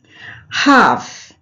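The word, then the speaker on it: half: हाफ, यहाँ ए के बाद एल आया इसीलिए एल का उच्चारण नहीं होगा, इसे हम पढ़ेंगे हाफ और हाफ मीन्स होता है imperfectly dividing one बाय टू।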